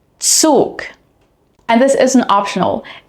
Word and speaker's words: Zug: In German, however, z is always pronounced like a ts, similar to the beginning of the word tsunami, tsunami. Here are some other common examples. Zeit. Zeit. Zug. Zug.